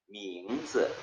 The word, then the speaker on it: 名字: 名字 자, 어떻게 읽었어요? 민즈. 자, 쯔는요, 뒤에 아이가 모음이지만은 성조가 없어요. 그러면 가볍게 그냥 쯔 하면 돼요. Z 발음만 하면 되는 거예요.